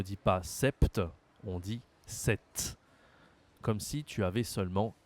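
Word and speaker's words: sept: Nombre suivant 7. 7. Là aussi c'est spécial. Il y a le P avant le T. Mais on ne prononce pas le P. On ne dit pas Sepcepte, on dit 7.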